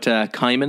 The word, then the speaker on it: Cimon: So we chatted a bit about Cimon or Simon, whichever way you want to pronounce it.